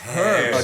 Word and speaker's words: herbs: It's herbs. Okay, herbs. No, Okay, just checking. Joe? I've been, you know, guys on the show. Malherbe. But no, okay, yeah. Oh, Yeah, yeah, no, so the H is silent.